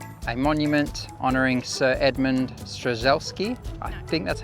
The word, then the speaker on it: Strzelecki: So on the beautiful foreshore here, we have a monument honouring Sir Edmund Strzelecki. I think that's how you pronounce it. Strzelecki.